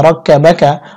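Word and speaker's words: ربك: রা কা জবর রা, কাফ জবর কা, রাক্কা বা জবর বা, কাফ জবর কা, রাক্কা বাকা। ওয়াকফের সময় কাফ সাকিন হবে, উচ্চারণ হবে রাক্কা বাক।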